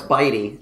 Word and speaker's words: bitty: Anyways, it is Bitty. Oh, it's Bitey. So it is Bitey.